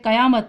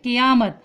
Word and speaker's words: قیامت: زبر۔ پھر ہے قیامت، اس لفظ کو اکثر لوگ غلط پڑھتے ہیں، قیامت پڑھتے ہیں، جبکہ جو صحیح تلفظ ہے اس کا وہ ہے قیامت۔ کاف کے نیچے زیر، یا کے اوپر زبر، میم کے اوپر زبر اور تا کے اوپر جزم، تو یہ قیامت ہو جائے گا۔ پھر درج ذیل الفاظ